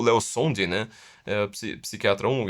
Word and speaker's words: Szondi: Ou seja, você tem, por exemplo, o Leo Sondi, né? Psiquiatra húngaro, ele se escreve Szondi, né? Mas esse Z não se pronuncia.